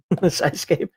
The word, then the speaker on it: Psyscape: Pronounce the P. Psyscape to make this.